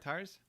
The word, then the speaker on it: Tars: Tar, like Tarzan. Tarz. Oh, nice. Welcome aboard, Tars.